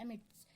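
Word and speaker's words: amidst: एमिट्स, एस is silent hair.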